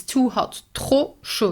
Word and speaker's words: trop: Trop chaud, you do not pronounce the final P.